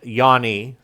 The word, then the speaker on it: Jani: And it's actually pronounced Yanni thanks to his German grandparents tripping over English consonants.